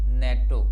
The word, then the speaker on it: NATO: इसी तरह से नेटो, NATO नहीं कहा जाता, इसे हम नेटो कहते हैं।